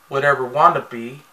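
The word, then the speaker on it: Watevra Wa'Nabi: General Sweet Mayhem, the leader of the Duplo Army, had arrived at Apocalypticburg and announced that Queen Whatever Wannabe, and that's how it's pronounced, of the Sistar system intends to wed Batman.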